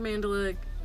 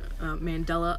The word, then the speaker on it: Mandela: yeah no but yeah share your mandala Mandela effect I keep saying it wrong Mandela effect experiences we